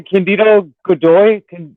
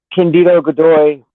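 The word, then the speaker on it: Cândido Godói: Candido Godoy. Candido Godoy. Candido Godoy. Candido Godoy. Candido Godoy. Candido It's Godoy.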